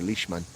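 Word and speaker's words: Lichtman: is Alan lickman uh I would not pronounce lickman I would actually say lishman okay uh used to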